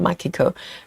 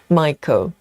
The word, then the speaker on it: Michael: Is it Michael? Sorry, I pronounced your name wrong. Not Mako. Michael.